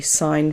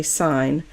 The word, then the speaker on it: sine: what we write so we're not going to pronounce it sin we're going to say sine and we're going to write s i n then there's the cosine